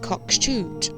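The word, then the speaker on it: Cockshut: This road is actually pronounced Cockshoot.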